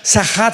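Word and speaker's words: שחת: Sahat con s de Samuel y ch. Sachat. Sahat se pronuncia, que significa corrupción moral.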